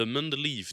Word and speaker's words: Mendeleïev: Notez aussi la prononciation anglaise, The Mendeleev Table.